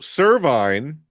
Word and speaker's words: Servine: So, cervine may be a combination. Now, you're saying it correctly for the first time.